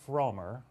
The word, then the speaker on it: Frommer: my show it's Pauline frer right Pauline yes that's correct never say frer frer rhymes with Homer daughter of American Travel